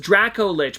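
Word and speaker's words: Dracolich: I'm pretty sure it's pronounced Draco Lich, but that's actually a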